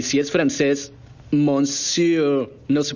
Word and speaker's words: monsieur: Y si es francés, monsieur. No se pronuncia mencier.